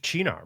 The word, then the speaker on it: Cynar: I will never drink a liter of Cynar. It's never actually pronounced Chinar, my friend.